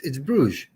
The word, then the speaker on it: Bruges: It's Bruges. Is it Bruges? It's spelled differently though.